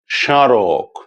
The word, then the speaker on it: স্মারক: যুক্ত হয় তাহলে সে মফলা বা ময়ের কোনো রকম উচ্চারণ হবে না, তবে মফলা যুক্ত বর্ণের উচ্চারণে খানিকটা নাসিক্য প্রভাবিত উচ্চারণ হবে, অর্থাৎ একটুখানি নাকি স্বরে উচ্চারণ করতে হবে। আমি কটি শব্দ বলছি, আপনারা লক্ষ্য করুন। যেমন ধরুন, স্মরণ, স্মৃতি, স্মারক, স্মর্তব্য, স্মরণীয় ইত্যাদি। আপনারা লক্ষ্য করেছেন যে প্রত্যেকটি বর্ণের সঙ্গে মফলা যুক্ত আছে, কিন্তু ম বা মফলার কোন রকম উচ্চারণ হচ্ছে না, বরং মফলা যুক্ত বর্ণটির উচ্চারণ একটুখানি নাকি স্বরে হচ্ছে।